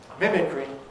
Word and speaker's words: mimicry: pedigree has a strong e at the end mimicry has the weak power you've been hearing quite